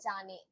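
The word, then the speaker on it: じゃね: ஷீ லெட்டருக்கு மேல அந்த 2 stroke போட்டோம்னா அதை வந்து ஜீனு ப்ரொனவுன்ஸ் பண்ணணும் நான் சொல்லியிருக்கேன்னா. அது கூட இந்த யா லெட்டர் வந்து குட்டியா இருந்ததுன்னா அது ரெண்டுத்தையும் சேர்த்து ஜி பிளஸ் ஆ ஜான் மாறிடும். இப்ப தமிழ்ல வந்து இக்கு பிளஸ்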